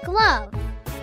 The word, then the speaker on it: glove: The E is silent.